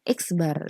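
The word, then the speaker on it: x̄: Ya, selanjutnya rata-rata sampel itu ini kita bacanya X bar.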